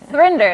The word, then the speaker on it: Thrinder: Thrinder, it's called. So it rhymes with Tinder.